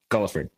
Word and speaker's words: Guilford: Paulo Zeke quinland Guilford or is it Gilford I'm sorry how do you pronounce it gulford gulford okay and then Zack Hobbs